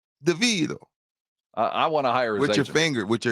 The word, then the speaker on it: DeVito: DeVito was the MVP deito you gotta say it like that Rob deito I want to hire